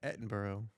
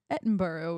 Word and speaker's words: Edinburgh: Edinburgh. Edinburgh, which you told me the correct pronunciation of Yeah.